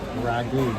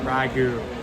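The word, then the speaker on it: ragoût: no it's not that it's not because you're dyslexic it's because it's French Ragu Ragu Ragu where's the tea come in why is the T sign the add the French are lazy they don't pronounce half of the stuff they're right right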